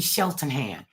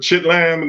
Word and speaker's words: Cheltenham: man it is funny you say it right though most people call it chit l or or something like that but you know they